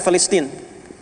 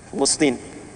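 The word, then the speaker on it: فلسطين: Pakai bahasa Arab pakai F, Filistin. Makanya di ejaan-ejaan lama itu F-nya masih ada, Filistin, Filistin. Tuh, F. Ya, cuman nanti ke kita pakai P berubah, ya, jadi Palestina, atau di ejaan sekarang jadi Palestine.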